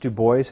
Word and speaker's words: Du Bois: views to it and why is it pronounced to boys and not Du Bois as that caller well it was his right to do so like Roosevelt not Roosevelt or Bernstein Bernstein he said I it is an American name it is Dubois his father was patient ancestry and would have pronounced them probably did pronounce his name Dubois but he did not Bridgeport Connecticut good afternoon